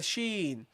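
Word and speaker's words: شين: guys you got the letter Shen the letter Sheen sh okay yes that's how you pronounce it and the letter s now this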